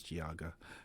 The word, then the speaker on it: Geauga: Kelly Kennedy 19 News giaga County that's how you pronounce it guys giaga County before you guys